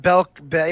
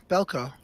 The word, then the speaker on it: Belko: am i referencing I was Belko or not Belk Bay yeah Bellco mm-hmm can you spell that for me B ELC oh okay yes